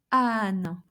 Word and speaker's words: âne: Âne, âne, donkey. So A, accent circonflexe, is pronounced like A.